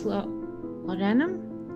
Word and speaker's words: laudanum: She notices that while the gentleman is smoking a cigar and the woman is taking some lower-class laudanum? Is that how you pronounce that?